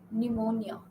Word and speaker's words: pneumonia: of PN and PS pneumonia so p is silent z p is silent